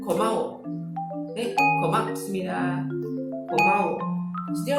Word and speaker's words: 고마워: similar with 감사합니다 is 고마워. 고마워. Okay, 고마워. So this is ko as well. 고마워. 고마워. But it's not really G sound. It's not go, but it's not really ko, but it's 고마워.